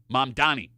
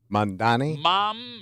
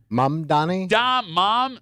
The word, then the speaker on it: Mamdani: For example, the number one most mispronounced word is the mayor-elect of New York City. Mamdani. Mandani? You just did it. Mamdani? Zoran Mamdani will be the mayor of New York City. Mandami. M-A-M. Mandani. No.